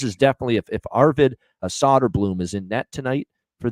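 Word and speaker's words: Söderblom: net here uh it's probably going to be solder Blum for Chicago Arvid s solder Blum solder Blum is how they say it actually solder Bloom solder Bloom is how they say it actually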